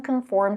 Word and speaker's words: conform: are completely relaxed uh the second syllable in the first word conform is stressed and pronounced with o as an or and more this is a closed